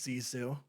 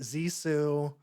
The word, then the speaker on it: Zissou: sounded like I think they pronounce it a couple different ways like there's some people at like the movie premiere at the beginning that pronounce it like zizu but then he pronounces it zesu so I don't know I don't know yeah I mean some used the Z some used the S sound then they' put accents on different syllables it was like I